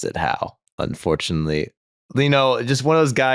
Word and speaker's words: Howe: Charlie Howe.